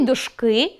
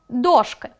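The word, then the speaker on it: дошки: У слові «дошкú» неправильно поставлено наголос. Правильно — дóшки.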